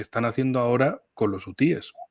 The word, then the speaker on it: hutíes: cámara, Fernando y yo, de si son hutíes o ucíes. Bueno, a mí lo que me dijeron árabes, sí. es decir, que se pronunciaba como Z. Pero bueno, es que la gente suele decir utíes. Bueno, pues dejémoslo en utíes o ucíes.